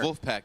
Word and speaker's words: Vulfpeck: Vulfpeck. It sounds like Wolfpack. Right. Is that intentional? Yeah, it's phonetically how a German would read the word Wolfpack.